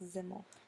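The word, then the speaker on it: Simmel: his name is George zimmel pronounced ziml um he really talked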